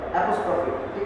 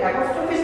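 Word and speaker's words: apostrophe: তো বানানটা হচ্ছে APOSTRO, ওটা কিন্তু উচ্চারণটা ভালো মতো জানতে হবে, অ্যাপোস্ট্রফি, ঠিক আছে অ্যাপোস্ট্রফি, তারপর এস যুক্ত হলো কি হলো না তার উপর ভিত্তি করে অ্যাপোস্ট্রফি এস, কিন্তু অ্যাপোস্ট্রফিস বলা তো ঠিক না, মানে আমরা এই ধরনের কিন্তু মানে মিসগাইডেড প্রনাউন্সিয়েশন অপশনে শুনে থাকি।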